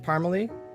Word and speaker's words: Parmalee: and andrew is it parmalee so you pronounce it yeah i was gonna ask you beforehand no it's not parmesan it's not parsley wanted to make sure